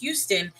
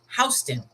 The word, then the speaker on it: Houston: However, New York also has same spelling, same name, but in New York, it's not pronounced Houston, it's pronounced Houston.